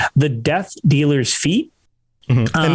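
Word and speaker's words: fête: Fate. Fate. A fate. Fate. It's more of an A instead of an E.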